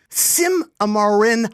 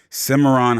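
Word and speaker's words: Cimarron: Simarin High School. Simmeron High. There we go. Simmeron High. Sorry about pronunciation.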